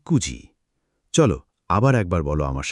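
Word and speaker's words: くじ: বারোটা বলতে বল জুনিজি এখন দুটো বিশেষ ব্যাপার মনে রেখো চারটের সময় ইয়ন না বলে বলতে হয় ইউজি আর নয়টার সময় কিউ না বলে বলতে হয় কুজি এই দুটো একটু আলাদা অনেকে এখানে ভুল করে মনে রেখো চার মানে ইয়োজি নয় মানে কুজি চল আবার একবার বল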